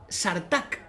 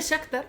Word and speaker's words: Shakhtar: Y luego, gente que dice Sartak. En vez de Shakhtar, dice Sartak.